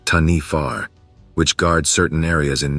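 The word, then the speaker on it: Taniwha: In Maori legends and folklore, there is a creature called the Taniwa, pronounced Tanifar, which guards certain areas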